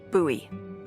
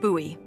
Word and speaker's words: Bowie: out this huge Rusty Bowie knife it's actually pronounced buoy what no it's like the last name like David Bowie different last name buoy are you just messing with me no that's